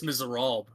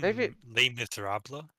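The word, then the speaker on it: Les Misérables: chapters in did you do you mean Les Miserable I like the way I said it better this guy up let me that's not how you say it but okay I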